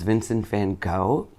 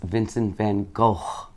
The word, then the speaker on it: Vincent van Gogh: is vincent van gogh that's how we americans say it i said but i listened to um the proper sound this the way you should say it and it's vincent van gogh because it's g-o-g-h which is gokh if you s